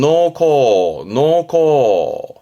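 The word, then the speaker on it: 農耕: 발음은 노코.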